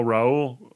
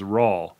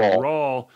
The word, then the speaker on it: Raul: as well so now raul raul sorry they say very specifically it's spelled raul but it says very specifically in the book that it's pronounced like paul so it's raw right so rawl is um headed to